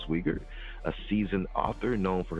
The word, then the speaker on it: Sweigart: Yes, it's German. It's Pennsylvania Dutch. So you pronounce the second letter, not the first. Got you. Wow. Sweigart.